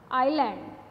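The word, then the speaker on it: island: एस प्लैट्यू अ है आयरलैंड आयरलैंड आयरलैंड और इट इज नॉट इज लैंड लैंड आईएस है तो हम इसको इस मैंने यह ऐसे साइलेंट यहां पर साइलेंट है आयरलैंड आयरलैंड जहां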